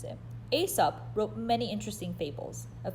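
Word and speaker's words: Aesop: do at least the first four number one asop that's how you pronounce it asap wrote many interesting fables a fable is a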